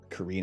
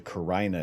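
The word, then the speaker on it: Carina: and small magellanic clouds korean and nebula i've also heard someone pronounced as the karina nobody like just doesn't sound right this isn't the same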